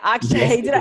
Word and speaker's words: Akshay: Did I pronounce it right? Akshay.